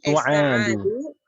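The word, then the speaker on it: سعاد: Kam akhon laka ya Sa'adun Su'adu. Sa'adu Su'ad. Su'ad. Sa'adu Su. Su'ad. Jadi kalau ainnya panjang seperti ini bacanya su'ad.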